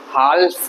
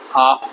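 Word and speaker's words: half: इसको बोलते हैं हाफ, मतलब आधा। हाल्फ नहीं बोलेंगे, हाफ बोलेंगे।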